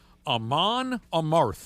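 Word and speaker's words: Amon Amarth: Aman Amarth is how you say it.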